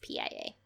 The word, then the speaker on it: Pia: How do you pronounce P-I-A?